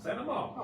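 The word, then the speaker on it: St. Amant: You don't even pronounce the T. Don't Don't pronounce Santa it. Mont. Santa Mont. Santa Mont. Santa Mont. Santa Mont.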